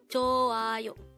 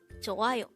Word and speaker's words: 좋아요: Joayo. Joayo. This is pronounced as a three-syllable word. The first syllable is jo with an H, followed by an a, followed by ayo.